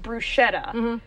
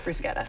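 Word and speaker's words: bruschetta: excellent all right now you may hear this pronounced brushetta and chances are the people who make that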